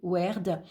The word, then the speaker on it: Wyrd: La rune blanche nommée Wyrd, prononcée Werd, n'est gravée d'aucun signe, rien ne figure sur cette rune.